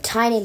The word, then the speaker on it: Tynan: So Tynan Lawrence, I always want to say Twan because that's how it's spelled. But Tynan Lawrence barely misses out on my top 10.